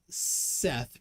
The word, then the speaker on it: Seth: thoth is pronounced tote h's are silent in seth pronounced set however this is interpretation